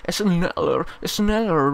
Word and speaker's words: Schneller: Hoy vamos a probar el Schneller Bridge. Es como la cerveza Schneider. O sea, se pronuncia la SH Schneider.